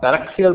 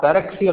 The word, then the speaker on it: paraxial: Whatever mathematics we'll be doing will be valid for paraxial rays. Paraxial means rays that are close to the principal axis. The pronunciation of paraxial somewhat rhymes with parallel, but actually parallel has nothing to do with paraxial.